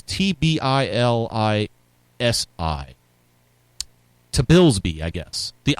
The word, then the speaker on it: Tbilisi: that proved so persuasive on the streets of Tilsby after this month's tainted parliamentary election. So keep the pressure on, right? Doesn't that sound like kind of like Alinsky? The Tisby, I can't pronounce this. It's Tbilisi.